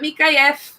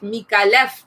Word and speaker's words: Micallef: is pronounced peak I left folks it's not me Kai F if you pronounce it Nick is because you heard it